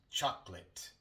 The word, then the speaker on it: chocolate: En chocolate, normalmente omitimos la O y decimos chocolate. Casi nunca escucharás a un hablante nativo decir chocolate. Se dice chocolate.